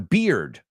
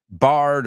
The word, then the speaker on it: beard: How many people have said bard or beard I've heard a lot of stuff. Beard. Easy way to remember it. When you drink a beer too fast, what happens? Fellows, chicos, and women with facial hair. I don't want to exclude anyone. What happens? You get beer on your beard.